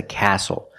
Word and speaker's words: castle: We also see the silent T when you have the spelling pattern S-T-L-E.